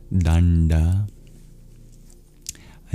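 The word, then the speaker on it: daṇḍa: But actually the middle two letters are an approximation. It's a retroflex n and d in the international alphabet of Sanskrit transliteration. You put a dot under the middle n and d. And when you're pronouncing you curl your tongue back for those letters.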